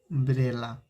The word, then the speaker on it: umbrella: अगर यही हम अम्ब्रेला लिख दें, UMBRELLA, अम्ब्रेला, इसको पढ़ेंगे अम्ब्रेला। अब देखिए बाबू, ये जो अम्ब्रेला है इसमें अ आ गया तो इसमें लगाएंगे AN।